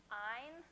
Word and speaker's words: Ayn: to pronounce her name ein rhymes with the word mine so keep that in